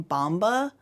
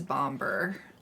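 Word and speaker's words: Bombur: think in the movie, it almost sounds like they sang Bomba. Oh, which, but it's spelled Bomber. So. Yeah. And it also, like, their accent probably doesn't give it that hard R at the end.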